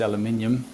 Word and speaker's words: aluminium: chuckle out of is aluminium people always say oh that's not how you say that I'm like actually that is how you say it that's the right way to say it and you know in